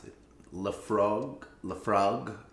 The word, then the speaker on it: Laphroaig: i can't pronounce it la frog la frog laphroaig what'd you say laphroaig she says laphroaig like it's very obvious from the spelling but uh in my opinion it is very confusing uh uh and it